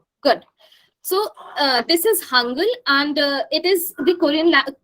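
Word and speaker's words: Hangeul: h-a-n-g-e-u-l right but uh don't don't pronounce as uh you know Korean language uh Learners you don't pronounce it as Hangul or Hangul nothing like this it is hungry okay I want you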